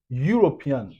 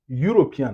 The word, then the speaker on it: European: Vous voyez ce mot ce mot European European. Vous voyez le son là, ça son comme you. Ça commence comme you.